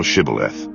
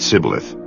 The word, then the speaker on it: Shibboleth: Then said they unto him, Say now Shibboleth. And he said Sibboleth, for he could not feign to pronounce it right.